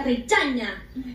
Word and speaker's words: Regina: Ella es Regina, mi nueva asistente. Se pronuncia Rechaña. Ahí usted se llamó mi madre, Vallaina. Hola. ¡Hola! Germayo, Rechaña.